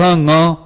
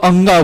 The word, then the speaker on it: ङ: यहां पर लोग उच्चारण करने में बड़ी गलती करते हैं। वो क ख ग घ अंगा बोलते हैं, वास्तव में वो अंगा नहीं ङ है।